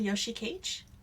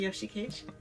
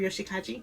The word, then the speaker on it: Yoshikage: Western, I guess, like, compared to Yoshikage. Or Yoshikaji.